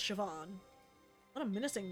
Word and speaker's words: Siobhan: out of America hallway SE Sean Shian or sioban it's pronounced Siobhan what a menacing name says here that she